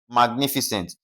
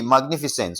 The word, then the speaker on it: magnificent: Okay, magnificent. Now, where is the stress going to be placed? We have what now? Syllable three right from the end. That's N I.